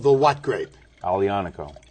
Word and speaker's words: Aglianico: go huh and it's called the what grape alianaco alianaco with asylum g yes let's get a close-up